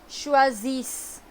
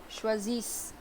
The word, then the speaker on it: choisissent: And no, ENT we don't pronounce. Choisissent. Choisissent.